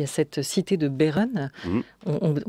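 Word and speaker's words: Behren: Alors, vu du ciel, il y a cette cité de Beeren, on prononce comme ça, ouais, à Forbach, en Moselle,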